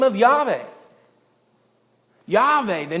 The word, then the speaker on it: Yahweh: so feared in fact yve isn't even really the real name that's a pronunciation that was combined from two different ones that yhvh or yhwh